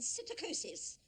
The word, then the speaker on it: psittacosis: Words like pseudo and psittacosis that starts with a silent P.